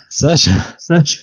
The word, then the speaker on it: Saoirse: It doesn't look anything like Saoirse. Yeah, you know what? I see. That's the thing. The trick is to not look at her name. let me look at her name right now. Yeah, if you look at her name, it just makes no sense. There's no H. Surely there's got to be a H in Saoirse somewhere.